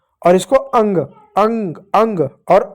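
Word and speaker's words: ङ: अंग जो होता है इसका अंग में अ नहीं होता, ग भी नहीं होता है। बीच में जो बच गया वह य होता है। लेकिन उसका हम उच्चारण नहीं कह सकते हैं। इसलिए सुविधा के लिए उसको अंग पढ़ते हैं।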